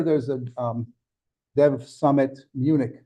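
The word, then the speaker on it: München: a um Dev Summit Munich in Germany or menion as it's pronounced and then of course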